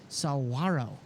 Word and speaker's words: saguaro: We're going to go do night photography out in the desert with I've been informed how to say this, saguaro. There's no G. It's saguaro cactus.